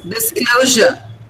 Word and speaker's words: disclosure: Disclosure. Disclosure. It is O sound.